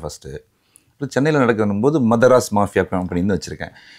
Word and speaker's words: Madharas: இப்போ சென்னையில் நடக்கும் போது மதராஸ் மாஃபியா கம்பெனின்னு வச்சுருக்கேன். இது வந்து மெட்ராஸ்ன்னு ப்ரொனவுன்ஸ் பண்ண வேண்டாம், மதராஸ் மாஃபியா கம்பெனி.